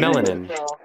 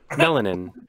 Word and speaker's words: melanin: Melanin. Melanin. Okay, so I just pulled up Google, and if you're listening to the stream, you'll hear this. Melanin. It's pronounced melanin. Yeah. Not melanin.